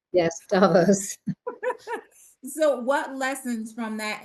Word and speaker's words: Davos: So what lessons from that inaugural Davos, pronounce it correctly. Yes, Davos.